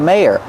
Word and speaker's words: mayor: Use the long A like say and day. May. Yer. The second syllable is the sound like burger. And we have to link these two sounds with y, like in yes and yellow. Together, may, yer, mayor.